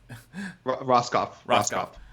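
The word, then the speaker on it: Rohskopf: So he's Roskopf.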